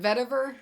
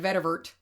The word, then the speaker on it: vetiver: Is it vetiver? Is that how you say it? How did I? Vetiver. I don't know. I try to avoid it at all costs. First time I said it, I said vetivert.